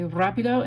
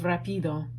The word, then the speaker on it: rápido: This is my rápido guy. Rápido. It has an accent mark on this A, so put that on there, please. That makes you say rápido instead of rapido.